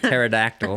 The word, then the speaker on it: pterodactyl: Yeah, it's a silent P at the beginning, like pterodactyl.